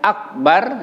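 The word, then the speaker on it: أكبر: ini bukan Hamzah sukun tapi Kaf sukun jadi bacanya kalau nanti kita ketemu akbar ya Akbar jadi ada sedikit This is Akbar Jangan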